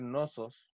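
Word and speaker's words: Cnosos: principales van a ser Nosos, que se escribe con una C al principio, Nosos.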